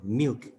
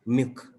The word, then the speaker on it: milk: In a word, milk is pronounced as milk, and one reason to uh, stop to drop the pronunciation of the L sometimes in the word milk of the speakers of English speakers has spread mostly in London, moving away from the capital.